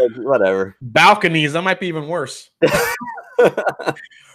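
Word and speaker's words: Balcones: Eric Waite said, balconies rhymes with jabroni.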